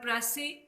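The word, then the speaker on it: précis: The word प्रेसी is taken from the French word प्रेसी। ये एक फ्रांसीसी ज़बान का लफ्ज़ है। इट is pronounced in English प्रेसी।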